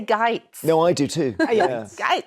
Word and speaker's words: Gaetz: I think in the case of Matt, I never pronounce Matt Gaetz. It's like Bill Gates, yeah. It's Gaetz, but it's weird. I always want to say Gaetz.